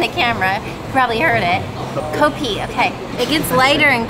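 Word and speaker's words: kopi: and it's also pronounced copy they don't pronounce the F they use a p instead Phil is telling me behind the camera probably heard it copi okay it gets lighter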